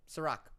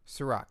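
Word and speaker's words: Cîroc: Ciroc. Ciroc. C-I-R-O-C? Yeah. Ciroc? It's got a lot of Ciroc. I think it's a vodka. Oh, well, it's full up on Ciroc.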